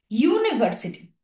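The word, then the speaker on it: university: কিন্তু আমরা বলি না ইউ এর উচ্চারণটা কেমন হচ্ছে বলতো, ওয়াই ও ইউ যে, সেরকম কিন্তু হচ্ছে ইউ। আমি কিন্তু বলছি না উনো ইউনিভার্সিটি, ইউনিভার্সিটি, এরকম কি বলছি? ইউনিভার্সিটি কিন্তু বলছি না, আমি বলছি ইউ।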